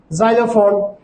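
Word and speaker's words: xylophone: ওয়ার্ডের প্রথমে যদি x বসে, সেই ক্ষেত্রে আমরা যা সাউন্ড উচ্চারণ করব বা বাংলায় বর্গীয় যা সাউন্ড উচ্চারণ করব, যেমন জাইলোফোন, জেরক্স, জিনন এটসেট্রা।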